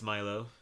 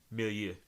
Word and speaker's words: milieu: And I think that speaks to it as a strong work in its Milo. Mm-hmm. I totally did not pronounce that word correctly, by the way. Milieu.